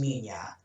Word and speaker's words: Minilla: I think it just comes down to the pronunciation, but it is Minya.